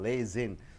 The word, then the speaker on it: liaison: It is called lays in. So lays in, say two sounds, a noun, 3 syllable, lays in.